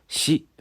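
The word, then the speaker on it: 死: ' 시 ' 라는 발음 인데 , 한국 에서 처럼 이 ' 시 ' 가 숫자 4 와 발음 이 똑같아서 부정 적 인 의미 때문 에 사람들 이 발음 하기 를 꺼려 합니다 .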